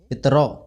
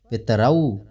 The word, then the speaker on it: पितरौ: जैसे पितरौ, हिंदी में अपन पढ़ते हैं पितरौ, लेकिन यहाँ पर पितरौ, परमेश्वरौ, इस तरह उच्चारण करना शुद्ध होता है।